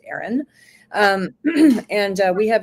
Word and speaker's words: Aeryon: Um it's called Aaron Wellness. So it's spelled a little different. It's a Ee y o n but it is pronounced Aaron.